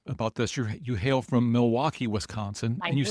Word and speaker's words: Milwaukee: So, do you come to Milwaukee often? Well, I'm a regular visitor here. Actually, it's pronounced Milwaukee, which is Algonquin for the good land.